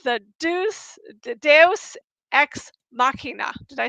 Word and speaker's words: deus ex machina: because I'm always doing it wrong, it's the Deus ex machina. Did I say Yeah. that right? Deus ex machina.